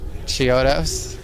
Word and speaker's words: Chiodos: asked question of chiodos how do you say your name okay shiodos chiodos what is the second most